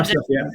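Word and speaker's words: Aarsleff: Now, Cemfree obviously has been used by, I hope I'm going to pronounce this name correctly, Arslef. Yeah, Arslef, yeah.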